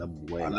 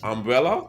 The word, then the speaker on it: Abuela: And Abuela, I know you're gonna jack this up. Umbrella? abuela, Umbrella? How you pronounce it?